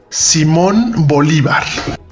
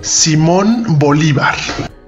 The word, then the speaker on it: Simón Bolívar: Simón Bolívar. Simón Bol... Simón Bolívar. The pronunciation of the city name has been Americanized, and I can't pronounce it with an authentic-sounding Spanish accent.